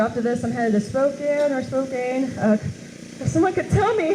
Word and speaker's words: Spokane: So after this, I'm headed to Spokane. If someone could tell me how you pronounce it correctly, I would appreciate that so I don't look like a fool. Spokane.